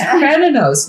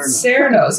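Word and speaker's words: Cernunnos: Now, you know, there is no soft C in Gaelic. It's supposed to be the hard C. That's why I said I can't pronounce it right. It's Kranenos, not Serenos.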